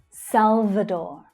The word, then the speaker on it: El Salvador: El Salvador, El Salvador. So in English, we hear that V consonant sound clearly. Salva, salva, Salvador. Make sure that your teeth are touching your bottom lip to make that sound.